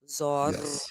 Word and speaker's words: Zorro: Now, do did you notice how you definitely heard me roll the R? Yeah. Zoro. It's because in Spanish that word is spelled with two Rs back to back. Gotcha. So, anytime there's two Rs back to back, they definitely want to hear the Zoro.